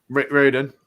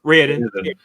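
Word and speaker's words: Raoden: that point because it talks about is it Raidon? Is that how we're pronouncing it? Raiden. Raiden.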